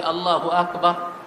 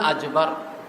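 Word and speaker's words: الله أكبر: সঠিক উচ্চারণও করতে পারেন আমি চীনের একজন ব্যক্তিকে দেখলাম আমরা বলি আল্লাহু আকবার এরে কয়েকবার পড়াইলাম বললাম আল্লাহু আকবার আমি যতই বলি আল্লাহু আকবার সে বলে আল্লাহু আকবার আকবার আর তার মুখ দিয়ে আমি বের করতে পারলাম সে বলে আজবার পেয়ারে হাজিরিন এরকম তাদের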